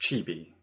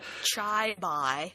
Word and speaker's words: Chibi: In the fight, or when they escape, is it pronounced Chibi? Yes. Okay, I always think it's not the right way to say it, but Chai-bai. Chai-bai.